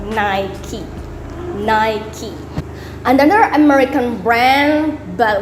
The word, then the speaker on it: Nike: Okay, so it's not pronounced Nike. Some people might call it Nike. So actually, it's called Nike.